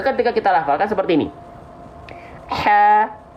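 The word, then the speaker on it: هَ: Ha, bukan ha, senyum. Ha, buka mulut karena fathah, senyum karena dia huruf yang tipis.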